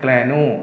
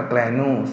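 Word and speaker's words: granule: นี้ เรียก ว่า เม็ด แกโน่ นะ ครับ แก นู่น ตรง นี้ ถ้า เอา produce ต้อง อ่าน ว่า แกรนโน่ นะ ครับ แกรนูส ก็ คือ เป็น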